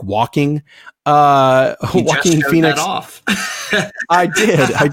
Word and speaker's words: Joaquin: So October 4th, we've got the Todd Phillips directed film Joker, starring Joaquin Phoenix, which I still like to pronounce like walking. Joaquin Phoenix.